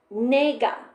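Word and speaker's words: Naga: Asian myths such as nga. N A GA N A with a long a GA.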